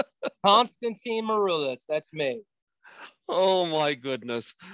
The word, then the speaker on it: Maroulis: Folks, I give you the awesomely talented Constantine Maroulis. Did I screw that up? No, sounded good. Constantine Maroulis, that's me.